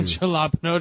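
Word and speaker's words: jalapeño: Jalapeno chips, I love that episode. He's like, it's pronounced jalapeno. And he's like, I don't care how it's pronounced.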